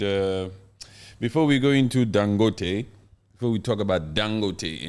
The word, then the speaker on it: Dangote: do you say that I would say dangote because it's an African name dangoty is sounds more American style it's dangote yeah dangote like with a Nigerian accent dangote yes he's one